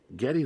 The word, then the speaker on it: Geddy: Because she didn't, being an immigrant to Canada, she couldn't say Gary correctly. She'd say Geddy. And so that's how he picked his name, Geddy Lee.